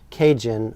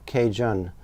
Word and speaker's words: Cajun: of Louisiana's mispronouncing Acadian they would say what sounded like a Cajun then the first a was dropped and shortened even further thus was born Cajun or Cajun and that's that's where